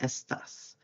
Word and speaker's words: estás: So accent on the A there, estás.